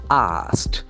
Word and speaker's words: asked: The past form of ask has got t ending. K. Asked. Is asked.